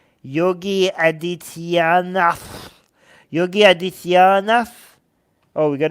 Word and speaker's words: Adityanath: Yogi Adityanath.